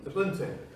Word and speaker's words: Ubuntu: And I can't pronounce it properly, but one of you can probably help me pronounce it. Ubuntu. Thank you very much. I always call it Ubuntu.